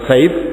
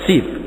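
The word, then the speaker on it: سيف: Bukan Saif, tapi Sif. Sif maknanya pantai, pinggir laut.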